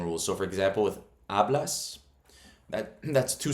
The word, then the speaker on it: hablas: So it's the rule is the second last syllable takes the emphasis. Hablas. Not hablas, but hablas.